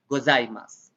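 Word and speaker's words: ございます: path is silent okay the u part is silent why is it silent because when we talk fast in japanese the u sound is omitted usually okay so you say this or gozaimasu okay like that but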